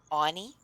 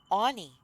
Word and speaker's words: Auni: And she just said it like I would say the name short for Arnold. Anie. She just said Anie for the pronunciation of his name.